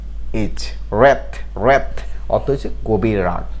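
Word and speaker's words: wrath: এর last one মানে last যে ওয়ার্ডটি সেটি হলো ডাব্লিউ আর এ টি এইচ, র্যাথ। ডাব্লিউ এ ডাব্লিউ আর এ টি এইচ, র্যাথ।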